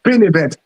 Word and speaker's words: PinEventz: Is it is that the right pronunciation? Is it pin event? It is pin event.